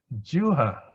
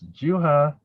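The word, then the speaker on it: jivhā: Tongue contact, in other words, tasting, is juha. You pronounce it as juha. The V is like W, juha sampassa.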